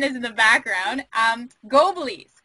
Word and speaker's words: Goblies: called as nathan is in the background um go belize right i said it right yeah yeah all